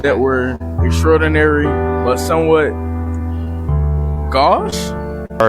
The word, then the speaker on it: gauche: Okay, I will say I also never heard that word before, but it's pronounced gauche.